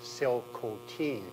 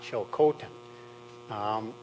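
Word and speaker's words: Tsilhqot'in: for me phonetically that the correct pronunciation is actually Sil cotin not chil Cen um and just on this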